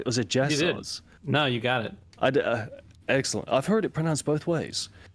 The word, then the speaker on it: Jasozz: It's Cultic's dev Jason of Jasozz Games. Did I pronounce that right? Or was it Jasozz?